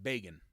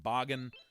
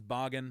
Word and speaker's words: Bagan: I streamed this I used to call it bacon but someone said that I this almost correct me saying that this should be pronounced boggin I really thought they had heard it pronounced as Bagan which makes a lot of sense when you